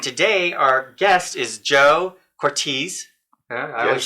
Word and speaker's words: Cortese: I'm your host, James Kelly, and today our guest is Joe Cortese.